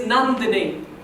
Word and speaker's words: Nandini: come from the subcontinent that's spelled like a nun with a habit you know the people who prayed with rosaries but I'm not a nun and the last part of my name is dini as in Houdini the magician which I am also